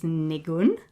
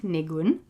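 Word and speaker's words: ניגון: So that's kind of two clear syllables, and the stress is on the second, nigun. And in Yiddish, we call it a nigun. The stress on the first syllable, nigun.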